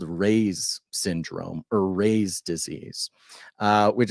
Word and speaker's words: Reye: I believe it's Reyes. Oh, Ray's. Yeah, Ray's disease.